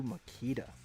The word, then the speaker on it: Makita: Watch the video of 7.2 Makita. That's how you pronounce it, guys.